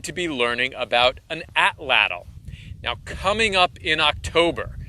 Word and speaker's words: atlatl: Some people call it atlatl. I think it's pronounced atlatl, but call it whatever you want.